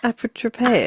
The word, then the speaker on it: Apotropaic: Witches Marks or how do you pronounce it? Apotropaic. Apotropaic? Yeah, Apotropaic marks.